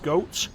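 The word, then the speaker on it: Goht: I've always called it got. I've been told it's pronounced goat, but I've always called it got.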